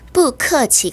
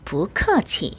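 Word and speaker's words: 不客气: 성조 변화라고 나와 있죠 또는 원래 4성 입니다 그런데 뒤에 똑같은 4성 이 올 때는 이성으로 발음 해요 그래서 푸카 g 가 아니라 부커 쥐 라고 발음을 하는 거죠 교과서에는 발음 학습을 위해서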